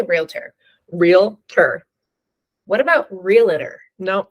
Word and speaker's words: realtor: how do you say realtor realtor what about realtor no that's not it I didn't think so not correct just food for thought we're Realtors real not real letters realtor yeah people seem to